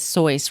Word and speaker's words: Seuss: It's the German pronunciation is Seuss, rhyming with voice. Seuss is an anglicized, American version.